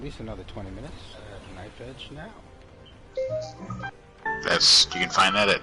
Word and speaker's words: KnifeEdge Now: KnifeEdge now.